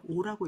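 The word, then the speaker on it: 惡: 그래서 정당한 방법으로 얻지 않았거든 처하지 말아야 하며 빈여처는 시인지 소오야나 여기 오는 싫어하다 라는 뜻이기 때문에 오라고 읽습니다.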